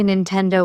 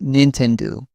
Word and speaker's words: Nintendo: I've heard people say Nintendo with stress on the 10. Japanese say Nintendo.